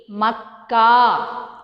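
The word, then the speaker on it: मक्का: Makkah. So, what is Makkah? Ma plus ka, ka. Makkah.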